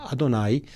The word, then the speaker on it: Adonai: hebreo evet significa siervo Adonai es la palabra con que los judíos hoy digamos pronuncian el nombre divino que nuestros amigos evangélicos pronuncian Jehová un rabino pronuncia adonay para no poner en sus labios el nombre impronunciable de Dios el Ever adonay el